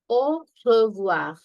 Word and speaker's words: au revoir: AU is O, O. RE is R, remember, R. Okay, VOI is voir, voir, R. Au revoir.